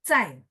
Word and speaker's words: 在: Tapi kalau 在, Z-A-I, makanya tadi Z-H, Z itu bersih. Saya selalu bilang bersih istilah saya karena nggak ada angin.